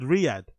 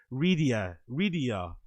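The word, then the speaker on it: Riyadh: He also struggled mightily to pronounce the word Riyad even when it was screened right in front of him somehow saying it Ria Ria.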